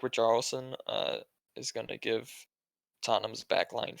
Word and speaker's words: Richarlison: Richarlison, am I saying his name wrong? No, that's Sure. right, Richarlison.